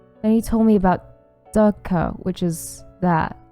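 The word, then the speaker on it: dukkha: Then he told me about Dukka, which is that, and I completely mispronounced it because I read the H as an N.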